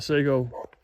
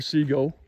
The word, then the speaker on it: Sego: So anyway, but this is right outside the Sego, or Sego. I've heard it pronounced both ways, actually, Sego and Sego.